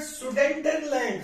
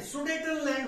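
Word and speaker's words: Sudetenland: वो देखिए then कैप्चरड सडन लैंड सुडेटनलैंड बोलते हैं इसको सुडेटनलैंड क्या है चेकस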